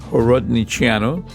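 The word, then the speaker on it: Horodniceanu: Michael Horodiano.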